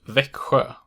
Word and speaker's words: Växjö: XJ only occurs in the place name Växjö, and if you consider